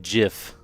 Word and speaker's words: GIF: Like if you're pronouncing GIF, it's J for jolt.